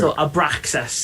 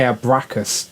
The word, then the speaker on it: Abraxas: i don't know butcher abraxas abraxas okay i was going to say abracast but abraxas sounds better um okay who's this